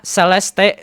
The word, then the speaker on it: Celeste: ditemukan jasad seorang bernama Celeste Rives Rivas Hernandez. Kalau misalnya dibacanya itu Celest Rivas Hernandez gitu ya.